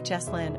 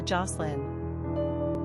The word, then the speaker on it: Jocelyn: Pronunciation, Joscelyn or Jocelyn.